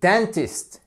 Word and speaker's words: dentist: alr number un dentiste et dentist exactly dentist sans le E faites bien attention maintenant